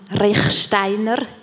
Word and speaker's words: Rechsteiner: -Hello altogether, I just wanted to say that my name is pronounced Rechsteiner, which is very Swiss, just for you to know.